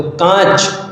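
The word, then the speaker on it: काँच: कांच में आप देखें जब उच्चारण करते हैं तो चंद्र बिंदु का इस्तेमाल ता है तो कांच शुद्ध शब्द होगा ठीक है काच याद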